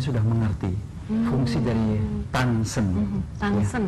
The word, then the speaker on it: Danshen: Tansen, oh dibacanya tansen. Ya, sebenarnya tulisannya tansen, tapi ditulisnya dansen. Tapi kalau di Indonesia bilang dansen oke lah.